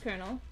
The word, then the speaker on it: colonel: I I can never remember if it's colonal or kernel. And I'm pretty sure it's kernel or it was like the weirdest pronunciation for it if I recall correctly. But let me see here. Uh yeah, it's pronounced colonel.